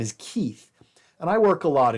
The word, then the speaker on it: Keith: they speak in Guatemala, there is no TH sound, th. That's a sound from Germanic languages. It's not a sound from Romance languages. So people in Guatemala cannot actually pronounce the name Keith. They struggle with it. Most often it comes out like a kip or a kip. And what they're doing is they're translating the TH sound to a P sound.